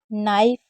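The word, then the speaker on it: knife: कभी भी के एन साथ में होगा तो के को नहीं पढ़ेंगे। के और एन साथ में होगा तो के को नहीं पढ़ेंगे। जैसे night, नी, न्यू, नो, नाइफ, knock, निट, knob, not,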